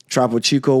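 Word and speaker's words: Topo Chico: sponsor what is it trpo Chico am I saying it correctly correct troo Chico was a sponsor um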